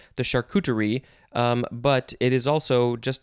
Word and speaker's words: charcuterie: this food next is charcuterie this is kind of you know it's a french word it's uh doesn't necessarily look like it's uh pronounced c-h-a-r-c-u-t-e-r-i-e charcuterie noun from